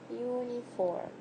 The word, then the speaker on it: uniform: yeah this yet sound is not advancing uniform uniform right again it's like the first sound of